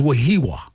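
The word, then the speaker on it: Wehiwa: I think it's Wahiwa. Wahiwa Aloy. I think that's how you pronounce it.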